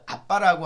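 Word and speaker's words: אבא: 우리가 생각하는 그런 어떤 그 아빠라고 하는 뭐 그렇게 틀리다고 할 수는 없지만 꼭 그런 의미에서 이 어원이 적용된 건 아니에요. 원래 이 아바라고 하는 것은 아랍어이면서 또 히브리어이기도 합니다. 그래서 발음상으로 정확하게 아빠예요. 아빠.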